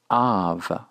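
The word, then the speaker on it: אב: Or if we produce the word Aleph kametz beit, pronounced av.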